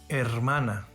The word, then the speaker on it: hermana: letters with unique pronunciations h is always silent in spanish example hermana hola this letter has an